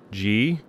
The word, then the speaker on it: Guy: equivalent of Andre and since brother guy comes from France his name is pronounced G the Y here is pronounced as in at the end of lately G interesting I would not